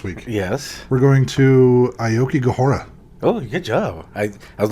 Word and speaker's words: Aokigahara: see that don't you haven't you heard of that one dj steve aoki yes half of the word right there that's true